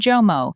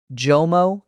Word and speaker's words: JOMO: I keep hearing a Y sound in there. JOMO Great ear. This is a common error for Arabic speakers learning English, actually. The J sound is a voiced palatal alveolar fricative.